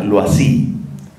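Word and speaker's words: Loisy: ustedes lo tengan presente l eau y latina s y se pronuncia lo así loas y el león y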